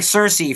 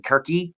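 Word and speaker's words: Circe: pronun pronunciation I think Cersei for example that character I think if we really wanted to go with the Greek pronunciation we would be saying kiry yeah or kiry but I I think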